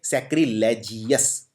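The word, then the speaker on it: sacrilegious: तो इसको जिओवस की तरह प्रोनाउंस कीजिए। सैक्रजियस।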